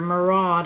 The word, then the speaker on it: Murad: a backup of my Murad or Murad I think is actually how you call it how you say it my daytime cream